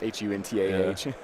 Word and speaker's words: Hunter: with like Hunta spelled like A-H. Yeah, it's Huntah.